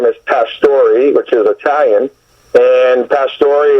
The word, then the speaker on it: Pastori: things, just acting overall, people had a hard time pronouncing, believe it or not, the name Pastori. They would say Pastor, and they'd spell it Pastori, and all these other different derivatives.